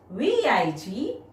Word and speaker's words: vigorously: Ranji sat on a low wall and started blowing the flute vigorously. Spell it V-I-G-O-R-O-U-S-L-Y. Break it into 4 syllables. And when you pronounce the word, stress on first syllable V-I-G.